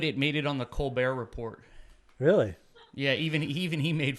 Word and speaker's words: Colbert Report: And technically, to be pedantic, it's the Colbert Report. Sorry. Yeah, The it's T report, is silent. just like Colbert.